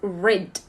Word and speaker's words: rid: But when we have off, we pronounce it off, okay? So get off your phone and get rid of.